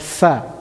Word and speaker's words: ف: Then we have Fa, a new letter. Fa is pronounced from Fa, The lips.